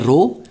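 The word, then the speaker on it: ρ: a what is रो रो इज द इसको pronounce करते हैं रो इट इज a constant of proportionality ठीक है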